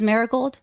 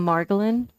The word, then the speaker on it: Margolin: she I think is Miss maragold did I pronounce that properly did I Slaughter it what that look thank you madam chair members of the committee for the record my name is margolin baric gold is lovely